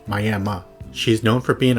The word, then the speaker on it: Miami: The city is spelled like the Miami in Florida, but I've been informed it's pronounced Miami.